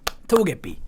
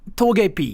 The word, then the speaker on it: Togepi: Togepi.